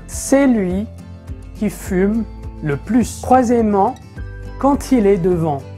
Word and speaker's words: plus: prononce de de façon en fait ce mot se prononce plus premièrement quand il est un terme de mathématiques par exemple un plus un